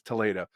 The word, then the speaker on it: Toledo: It's Toledo.